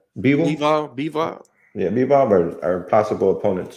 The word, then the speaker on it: Bivol: Bivol.